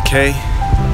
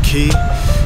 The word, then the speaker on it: Cay: Mike it's a beautiful day in Half Moon Cay it's actually pronounced having a key but I wanted it arrived so there it